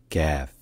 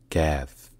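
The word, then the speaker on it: كاف: The letter Kaf represents the sound K in Arabic words, which is a voiceless, failed plosive, like in English skin. In Arabic, the name of the letter is pronounced Kaf. Kaf.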